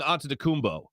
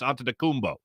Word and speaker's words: Antetokounmpo: By the way, I think I'm going to start going Antetokounmpo. That doesn't sound right to me, but that's how you pronounce his name.